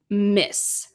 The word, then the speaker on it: Ms: But the final one I think is the most commonly used, and you can pronounce this Miss. It's the same here, Miss Vanessa, MS.